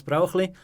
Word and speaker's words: Brauchli: The funny twist about the last name is Brauchli in Switzerland is pretty hard to pronounce in English. So, usually I'll go with the closest possible word, which is broccoli, like the vegetable.